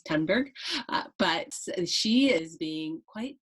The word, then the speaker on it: Thunberg: the attacks on Greta Penn burg apparently I was saying it wrong my apologies to Miss tunberg but she is being